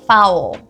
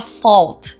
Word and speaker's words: foul: A forma mais comum é fou. Fou. E eu sei que é absurdo pensar nessa pronúncia porque a gente não tem nenhum a na palavra, mas essa que é a pronúncia. Fou. So, that was a foul. That was a foul. Ou seja, aquilo ali foi uma falta. Dá até vontade de falar fault, né? Fault, mas fault é culpa, não tem a ver com fou.